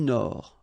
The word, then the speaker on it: Nord: L'océan Indien, l'océan Arctique, remember, tic, ic, la mer du Nord, final D not pronounced, la mer de Chine,